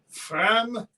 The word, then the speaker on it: framboise: Fram-bois, as in woods.